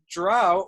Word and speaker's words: drow: I think it's like drow or dro, and so there's like no real answer.